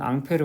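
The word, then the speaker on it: Ampère: 판 프랑스 라는걸 거에요 그래서 원림 본 발음은 앙페르 입니다 앙페르 저는 앙페르 없이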